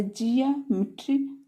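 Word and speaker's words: geometry: से ज हो गया तो जिया हो जाएगा जिया मेट्री ज्योमेट्री मींस रेखागणित होता है ज्योमेट्री मींस तो यहां पर इ ओ का उच्चारण या या की धवनी में है नेक्स्ट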